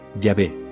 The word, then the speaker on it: Yahvé: origen histórico del monoteísmo la forma correcta de pronunciar el nombre de dioses yahvé tal y como aparece